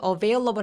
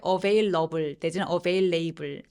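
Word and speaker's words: available: born dring if lay 여러분이 어베일러블 할 때 avail loves 안되고 그래서 이음절 베이에다가 강세를 좀 주시면 됩니다 애매하게 불 아니고 뭐 하면서 끝내주시면 돼요 같이 한번 읽어볼까요 천천히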